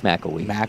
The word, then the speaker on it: McElwee: Should he get on, it's Cade McClewey. It's McElwee. What? MCELWE. McElwee.